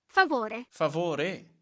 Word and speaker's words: favore: Per favor. Favore. Favore. They really like to emphasize the R-E.